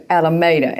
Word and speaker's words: Alameda: Alameda, and it rhymes with tomato, right? Yes, close to.